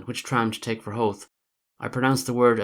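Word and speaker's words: Howth: to the starting point there seems to be a considerable difference of opinion as to the correct pronunciation of ho perhaps that is because it is a Danish word hovid ahead the Danes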